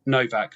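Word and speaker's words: Nowak: And um the what happened after the brutal murder of Henry Novak. I know it's pronounced Novak because of his Polish origins even though it's N O W A K.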